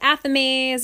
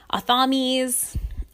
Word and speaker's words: athame: called athames, which are, or sometimes they're pronounced athames or athames. People all say them differently. I say athames.